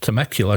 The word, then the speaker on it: Temecula: Worked hard on knowing how to pronounce that. Had to talk to a local. Temecula, California, targets June 1st as opening date.